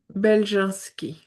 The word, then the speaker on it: Beljanski: Belowki.